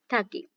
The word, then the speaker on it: ठकी: The wooden dolls made in Maharashtra were known as ठकी। यानी कि ठगी इसको बोलते हैं, इसको प्रोनाउंस आप करेंगे ठगी।